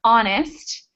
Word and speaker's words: honest: So words that don't have the H sound, even though they're spelled with H, are herb, honor, hour, and of course I mentioned earlier, honest.